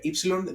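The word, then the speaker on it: ύψιλον: Then we have the letter epsilon. Okay. Uh ipsilon. This is another e that we see. We have if you remember the it the y and this is the epsilon e.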